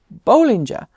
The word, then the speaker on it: Bollinger: over just where it got that system from Bollinger apparently that's how you say it so sorry